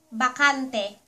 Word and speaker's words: bakante: Last word for our pronunciation video ----- Vacant. Bakante.